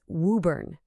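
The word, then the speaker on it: Woburn: It's wuburn. That first syllable rhymes with boo or to.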